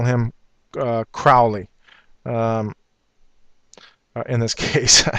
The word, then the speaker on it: Crowley: you see uh uh he wanted his name actually pronounced Crowley instead of Crowley because he wanted to rhyme with holy and I don't want to do that I'll call him uh Crowley um in this case